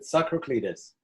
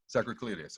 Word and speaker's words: Tsakraklides: So we are on with Tsakraklides. Am I pronouncing it right? Can you pronounce it for me? Yeah, that's good. Tsakraklides. Tsakraklides.